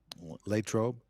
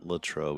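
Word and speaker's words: Latrobe: Lrobe. Is that right? Am I saying it right? It's not Latroe.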